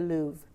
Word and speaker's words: Louvre: You go down to some museums sometime, and I was in, do you pronounce it the Louvre or the Louvre? I say the Louvre.